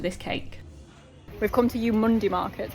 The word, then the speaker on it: Eumundi: cake we've come to you Munday Market apparently it's pronounced you Monday hey and it's the